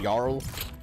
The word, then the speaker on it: Jarl: I know, like like in Valhalla, I noticed like the J's are usually pronounced like a Y. Yeah, like if something's spelled Jarl, they say Jarl.